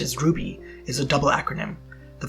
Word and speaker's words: RWBY: The title, RWBY, pronounced as RWBY, is a double acronym.